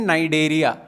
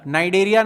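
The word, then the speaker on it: Cnidaria: से भी जानते हैं नई दरिया नई दरिया नाम से जानते हैं सी आपको साइलेंट रखना है ठीक है दे आर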